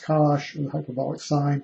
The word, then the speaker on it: cosh: If you're not familiar with the hyperbolic cosine, pronounced cosh, or the hyperbolic sine,